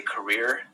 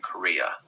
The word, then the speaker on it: career: of a common one sometimes if you stay career people think you're saying Korea it's probably because you're not pronouncing the are exactly right are is a hard